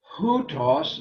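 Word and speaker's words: οὗτος: Hutos, notice the hard breathing at the beginning of verse 2.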